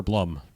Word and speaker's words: Blum: I was able to Blum like a plum.